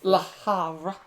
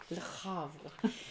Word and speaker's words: Le Havre: My number 7 is Hunter's favorite to pronounce. Le Havre. La Havre. Le Havre.